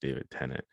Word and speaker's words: David Tennant: who is played by David, I believe it's pronounced David Tennant.